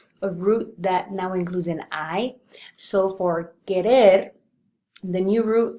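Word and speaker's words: hizo: So if we were to spell it as H-I-C-O, that would actually be pronounced as ico. And we don't want ico, we want iso, which is why it has to undergo another change with a Z so that we can keep the pronunciation.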